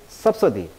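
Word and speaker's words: subsidy: 강세가 달라요. 섭사이드, 섭서디.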